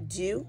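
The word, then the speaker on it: Dieu: spelled the French way her middle name is uh do is pronounced do and that's d-i-e-u her last name is Jones but Mercy do Mercia do is uh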